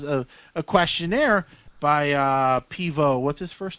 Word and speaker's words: Pivot: he goes damn it it's spelled pivot but he's French so it's poo yes and uh the